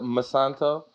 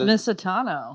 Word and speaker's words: Misitano: Next up, we have the lovely and talented Masanto. I ruined it. We just went over it and I ruined it. Please tell the people the correct way to say your name. It's Misitano. Misitano.